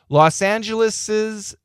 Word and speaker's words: Los Angeles's: So even though we don't write the S, we're supposed to pronounce it.